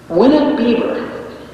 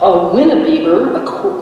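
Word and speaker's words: winebibber: to call him a winnow beaver. That's how the dictionary voice pronounced this word. W-I-N-E-B-I-B-B-E-R. A winnabeaver means, according to the King James Dictionary, a drinker of wine.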